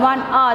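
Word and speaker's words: hour: So H-O-U-R, it becomes still, the sound still R because H is a silent letter. But we will add the letter H there to make it R, one R.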